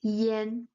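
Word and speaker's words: 炎: properties when pronounced together it sounds more like yen yen. It's a slightly open A. It's way near to the A, but it still sounds Yen Yen. So whenever it's E A Y A N or E A N, it's always pronounced Yen Yen.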